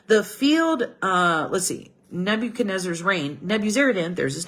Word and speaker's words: Nebuchadnezzar: 18th year of NE I keep saying it wrong Nebuchadnezzar Nebuchadnezzar's Reign he deported 832 persons